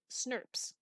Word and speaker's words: snRNPs: snrnps and is pronounced snurps that is the actual pronunciation of that abbreviation these snurps will bind